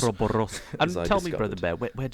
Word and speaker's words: Ouroboros: the initiative and bring the subject of the mystical, tail-devouring Ouroboros to this podcast.